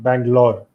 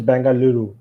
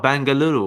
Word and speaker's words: Bengaluru: or is it different it's i mean in english they speak bangalore okay the original name is bengaluru ah bengaluru i didn't know that